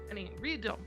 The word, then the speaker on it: Ryudo: Ryu is one syllable, not two. Ryudo Temple.